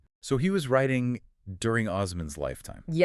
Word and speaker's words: Osman: Turkey today, is that his name was Osman. Osman, which is the Turkish pronunciation of the Arabic name Uman.